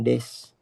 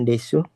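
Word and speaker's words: です: Untuk kata benda itu biasanya diakhiri dengan des bukan desu tapi bukan desu tapi dia des untuk cara bacanya ee untuk hiragana dan katakana apa yang ingin ditanyakan?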